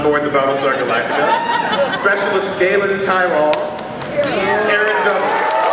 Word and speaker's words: Tyrol: Everyone's favorite former chief on board the Battlestar Galactica, Specialist Galen Tyrol, Aaron Doubles. Pronounced Tyrol.